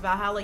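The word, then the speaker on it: VA-11 Hall-A: I didn't get V4 Hala, pronounced Valhalla.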